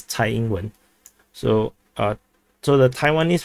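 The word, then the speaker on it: Tsai Ing-wen: that uh the taiwan this is sai englund so the in chinese is usually pronounced as thai england so uh so the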